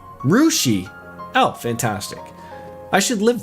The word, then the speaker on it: Russia: And they also have Russia, Ohio, pronounced like Rushi.